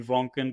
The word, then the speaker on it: Voncken: of like my ni my last name kind of rhymes with that wonen drunen you know something like that